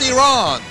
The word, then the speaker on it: Iran: is from iran excuse me pastor it's actually pronounced iran are you ready six seven eight let the